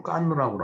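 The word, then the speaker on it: Cannes: 거기 보면은 이제 그 니스라는 그 도시가 있고 그다음에 영화제를 하는 그 칸 영화제를 하는 그 이제 칸이라는 도시가 있죠. 그걸 이제 프랑스 발음으로 깐느라고 하는데 거길 가갖고서 이제 뭐 저녁 식사를 하려고 길거리를 나갔더니 왜냐면 흑인이 한국말로 말을 걸어오는 거예요.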